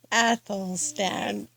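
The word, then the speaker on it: Athelstan: deal you know ah so you say his name is Apple stand Apple stand I see I see good Saint Apple stand Apple stand yes athl stand okay a stand okay we're going to cut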